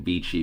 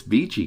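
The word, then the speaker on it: Vici: v i c i I'm saying beachy because I believe that would be the proper Italian pronunciation and Vichy has been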